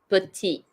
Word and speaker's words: petit: It's like a little bit more softer, but they're Petit. both right. Petit. Yes. You don't at the end lah. You don't do the last consonant.